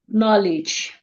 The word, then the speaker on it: knowledge: to silent d words letter D is very quiet when we have it in front of letter G like in words like judge knowledge the sound of the